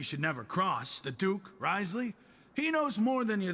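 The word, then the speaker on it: Wriothesley: bother dealing with it rley that's how you're supposed to pronounce his name really learning a lot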